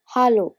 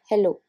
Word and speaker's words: Hallo: Hallo, this is the most common greeting used in all the languages, but you must notice the pronunciation difference. It's hallo, not hello.